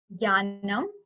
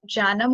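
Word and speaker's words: ज्ञानम्: It's Jnanam. Some people pronounce it as Janam also, which is again like right, because it's derived from the root Gyan, which means to know.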